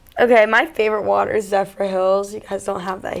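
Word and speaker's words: Zephyrhills: We sold that at Publix, and I was mispronouncing it all summer. What do you say it was? Zephyrless.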